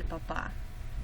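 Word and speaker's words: papá: is very formal, or you can call him el papa, which is not to be confused with papa, which is potato. The accent on the end of the word makes a big difference.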